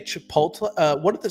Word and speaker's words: Chipotle: It is um just glad that my uh I don't say Chipotle. Uh what the some old people say Chipotle Chipotle um Chipoti. My mom and dad used to say Chipoti.